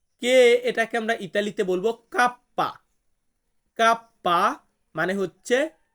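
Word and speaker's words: kappa: যে এরপর আছে কে এটাকে আমরা ইতালিতে বলবো কাপ্পা কাপ্পা মানে হচ্ছে কে এল এল এটাকে আমরা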